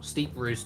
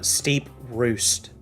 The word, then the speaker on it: Steeprost: about this town because I've heard it pronounced two different ways now steep Roost and Steve Frost which one is it uh steep Roost okay okay I needed